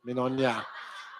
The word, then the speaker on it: Mignonia: She says like a filet mignon, but Mignonia.